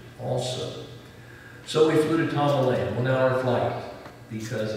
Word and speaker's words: Tamale: It's spelled exactly like tamale. It's just Tamale.